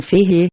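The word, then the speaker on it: Feyre: Elaine pronunciou as 2 sílabas de meu nome Ferre, com o choro mais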